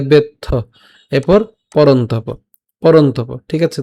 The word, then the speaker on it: বেত্থ: নতুয়ং বেত্থ, এখানে যুক্ত বর্ণটার মধ্যে আছে ত যুক্ত থ, তাহলে প্রথমে আমরা ত এর সাথে উচ্চারণ করলাম, বাকিটা থাকবে হচ্ছে থ, তাহলে বেত্থ, এরপর পরন্তপ, পরন্তপ, ঠিক আছে।